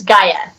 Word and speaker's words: Gaia: Is it Gaia? It's Gaia. Gaia, okay. Yes. Or I think in Greece they say Gaia, but I say Gaia here, so. All right, so this land of Gaia, because, ladies and gentlemen,